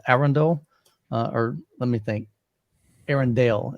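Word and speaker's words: Arendal: or let me think Aaron Dale is how they pronounce it I even asked him I'm like Hey how do you there's like this debate on is it a Rendell and he was like it's actually Arendelle I went okay cool so I'm gonna try to pronounce it Aaron Dale for now on but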